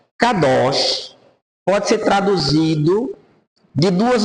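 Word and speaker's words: קדוש: se dá para ler aí c cados vamos pronunciar kados kados pode ser traduzido de duas maneiras separado ou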